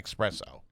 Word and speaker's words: espresso: Italians will say Sinatra called it an espresso.